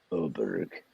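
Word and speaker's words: Åberg: love but the but the a with the circle on top is pronounced as an O I believe yeah I got I got him top five for plus 360 all right V oberg uh my top five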